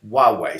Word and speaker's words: Huawei: Okay, this is how you pronounce it, Huawei.